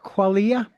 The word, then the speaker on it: Qualia: It's a a photographic uh book of his well it's a book of his uh uh photographs and it's pronounced qualia qualia.